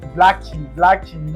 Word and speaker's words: Blackie: No, it's actually Blackie.